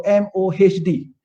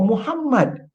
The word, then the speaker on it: Muhammad: Jadi kita tulis nama beliau MOHD. Bukan saya katakan Mohd. Itu namanya MOHD atau MD stands for Muhammad. Ini short form saja. Pronounce lah betul-betul.